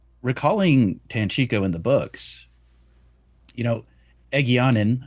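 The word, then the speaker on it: Egeanin: you recalling Tanchiko in the books, Egyanin, I don't know if that's how people pronounce her name. That's how I say Egyanin, the Shanchan. Yeah, that's good enough. Yeah, that's how I say it.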